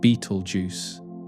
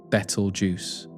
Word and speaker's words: Betelgeuse: The pronunciation varies as well with some saying beetle juice and others preferring bettle juice or similar variations depending on tradition.